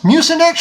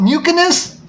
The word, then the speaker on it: Mucinex: You can't even pronounce Mucinex right? Call it Mucinus?